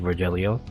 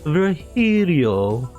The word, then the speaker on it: Virgilio: bartender you look winded Virgilio it's pronounced very Helio no I'm pretty sure